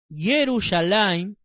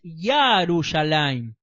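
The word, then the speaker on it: ירושלים: poner su nombre también se acostumbra a llamarle yerushalaim pero lo correcto es yarus alim vamos a leer primera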